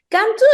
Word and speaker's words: Qantu: what does contour mean Cantu is the national flower in Peru the name in Spanish is cantuta but in the in the mountains in in quechua or in the mountains people the people pronunciation is why we choose this name because this flower is